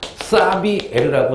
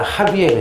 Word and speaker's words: 하비에르: 옛날 교과서에는 사비에르라고 나와 있거든요. 근데 이분이 이게 스페인어인가 포르투갈 차이인가 봐. 그래가지고 원어 발음으로 한 2년 전까지는 사비에르 신부님 나오는데 지금은 사가 아니라 하비에르 신부님.